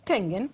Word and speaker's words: Schengen: Algunos, ¿Schengen se pronuncia? Schengen, Ya.